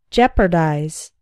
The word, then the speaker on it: jeopardize: not healthy like chips candy fried food etc jeopardize to jeopardize something means to put it in danger note that the eeo is simply pronounced like the e inset jeopardize for example this misunderstanding could jeopardize relations between the two countries juggle the action